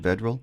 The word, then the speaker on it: Vedral: the man under Center is that how you pronounce his last name vedal vedal correct okay looking at his numbers he's 82